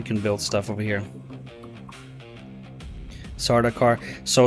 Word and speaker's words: Sardaukar: Sardaukar. So Sardaukar, Callie, Sardaukar is renamed. Dang it. It is renamed, but it's phonetically very close to Sardaukar, and the song